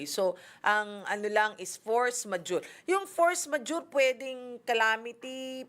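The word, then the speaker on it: force majeure: Ang force majure. Force the way you spell it. And then majore. M A j e u r e.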